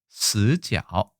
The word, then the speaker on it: 死角: 스지ao 이렇게 얘기합니다.